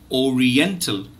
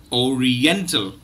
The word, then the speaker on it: Oriental: bit and then you have a so it's Oriental Oriental so students please keep practicing viewers please keep